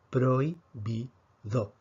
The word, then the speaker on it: prohibido: pero hoy pido atención muchos hablantes si pedimos que se paren esta palabra en sílabas dirían pro y me do sin embargo según la academia para efectos de si la veo esta